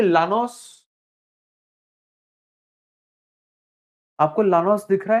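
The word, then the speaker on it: Llanos: कैन यू सी लानोस? आपको लानोस दिख रहा है? प्लीज बताइए। आर you winding लानोस? I silent है वहां पे।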